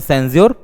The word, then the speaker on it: censure: अगर प्रोनाउंसिएशन इनका करें, लेकिन इसको बोलते हैं सेंसर, इसको बोलते हैं सेंस्योर, इसको बोलते हैं सेंसर, ठीक है।